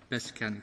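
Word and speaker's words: Peščanik: also an associate of Beskanik. I'm not sure this is the good pronunciation. Beskanik. Beskanik, thank you.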